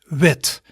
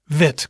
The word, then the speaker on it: wit: white in dutch is wit wit quite similar right but white is a different sound as wit which ends with the strong t sound